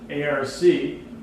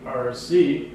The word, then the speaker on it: ARC: The abbreviation ARC, pronounced ARC rather than ARC, is one of the most useful terms yet devised.